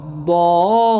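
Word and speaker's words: الضَّالِّينَ: চাপ দিয়ে পড়ব আলাইহিম উপরে দেখেন মোটা চিহ্ন আছে এখানে আমরা কি করব 4 আলিফ টেনে পড়ব ওয়ালা দাল্লিন ওয়ালা দাল্লিন মাশাআল্লাহ শুরু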